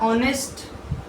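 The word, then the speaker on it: honest: ईमानदार ऑनेस्ट ऑनेस्ट H silent रहता है ऑनेस्ट ऑनेस्ट तो ओ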